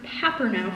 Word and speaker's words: Paperno: And Paperno, which is pronounced Paperno for everybody else.